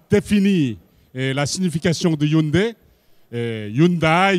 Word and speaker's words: Hyundai: la signification de Hunde Hundai Hund la prononciation exacte c'est Hund c'est Hund et ça veut dire